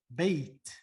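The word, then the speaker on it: بيت: are reading this correctly we would say bait without pronouncing the tanween why because in arabic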